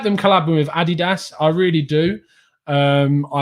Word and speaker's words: adidas: some people oh god it's adidas guys it's adidas it's how it's pronounced um i think that adidas is great